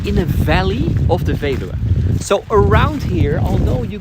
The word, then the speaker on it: Veluwe: I know hard to pronounce. The Veluwe. The Veluwe. Veluwe, exactly.